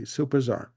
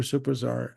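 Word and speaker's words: Supertzar: uh and I hope I say this correctly superar let's spell it s u p e r t z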